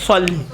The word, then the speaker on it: صلی: اللہم صلی علی، صلی نہیں ہے، صلی.